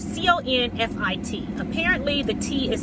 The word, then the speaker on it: confit: about confine um so I did a chicken conceit and it turned out delicious um you could come see anything um I posted a video on Tick Tock uh chicken confi recipe um and Confused spelled c-o-n-f-i-t apparently the tea is silent so the good